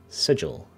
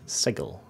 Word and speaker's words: Sigil: you were Outsider but you pronounced the name of our city sigil not Segal and there can be